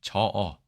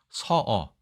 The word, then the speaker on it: 齟齬: 이 어긋날 저 혹은 서로 발음되고 이 어긋날 어로 발음되어서 서로 붙어서 한 덩어리로 자주 쓰는 단어 이 저어 혹은 서어 저어하다 아니죠.